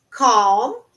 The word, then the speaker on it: calm: feel me faz sentir cal cal ó não pronuncio a letra L uma dry makes me